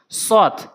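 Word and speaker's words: صاد: সৎ সৎ সৎ সৎ সৎ, সৎ কোথা থেকে উচ্চারণ হয়, কিভাবে উচ্চারণ করতে হবে? সৎ অর্থাৎ শক্তি দিয়ে জিহ্বার আগাটা উপরে নিচে 2টি দাঁতের আগাতে লাগাবেন। সৎ সৎ সৎ সৎ এভাবে উচ্চারণ করবেন, না হলে সঠিক উচ্চারণ হবে না।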